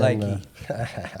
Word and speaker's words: Leakey: And, Lakey, pronounce it correctly.